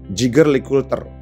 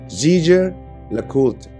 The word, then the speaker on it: Jaeger-LeCoultre: Orang Indonesia biasanya bilang Jaeger-LeCoultre. Atau biasanya orang persingkat Jaeger atau GLC. Dulu gue juga bilang ini GLC, biar nggak salah. Dan ternyata yang benar cara bacanya adalah Jaeger-LeCoultre. Sekali lagi, Jaeger-LeCoultre. Kurang lebih seperti itu.